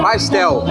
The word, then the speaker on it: pastel: ¿Cómo pronuncia pastel? Pastel.